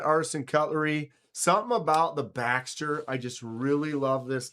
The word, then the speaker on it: Baxter: Yeah, Luft Baxter. And it's spelled BXTR.